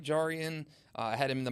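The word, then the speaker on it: Jarrian: if they have a chance to talk to jar and see him he is an immediate fan favorite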